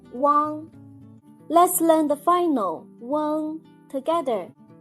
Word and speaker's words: ueng: Let's learn the final ueng together. When you pronounce the final ueng, make the u sound, then quickly slide to the ng. Ueng.